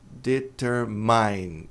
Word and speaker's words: determine: Essa palavra aqui, a pronúncia não é determine. Determine. Eu entendo porque as pessoas dizem determin e significa meu. It's mine é meu. Não é isso aí? Mas a pronúncia correta é determine. Então não é determine, mas sim determine concorrente.